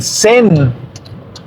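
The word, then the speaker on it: zehn: El número 10, el sen. Sen. Y el sen se escribe con Z, E, H, N. Ese sí suena como se escribe.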